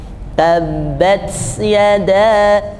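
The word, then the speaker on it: تبت يدا: Kemudian ta, ya, tabbat yada, tabbat yada. Jadi membacanya tidak langsung tabbat yada, tapi sisakan sedikit ruang untuk anginnya berhembus banyak.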